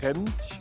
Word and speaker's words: Gent: drove a lot to gent Belgium hint yes hent Gant yes we say gang in French it's in Dutch and G and to